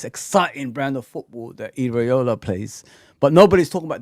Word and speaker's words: Iraola: Is it How do you say Areola? Sorry. Oh, yeah. Iola.